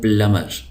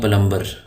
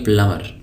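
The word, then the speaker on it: plumber: गाड़ी चलाने वालाला पल यह बी यहां पर साइलेंट है तो इसको हम पढ़ते हैं प्लमर और उर्दू में जो है आपने देखा होगा उर्दू में हम लोग इसको लिखते हैं पलंबर तो यह लफ्ज गलत है साइलेंट है बी साइलेंट है इसको हम लिखेंगे प्लमर अब उर्दू में एक गलत ल मशहूर हो गया है लेकिन बहरहाल वो गलती है सही लज है प्लमर प्लमर कहते हैं व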